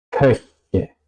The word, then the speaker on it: Köche: Lo mismo podría decir para la U. Es también súper difícil para hispanohablantes. Ejemplos: möchten, köche, möchten, möchten, querer o desear, köche, cocineros.